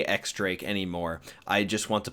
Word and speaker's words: X Drake: my boy x Drake and before I say x Drake anymore I just want to put out there that I know it is pronounced Diaz Drake but exactly the same as what tekking said